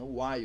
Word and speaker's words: while: comando Uai o aio escreve o aio o a e l tá em inglês a pronúncia né Uai o enquanto então como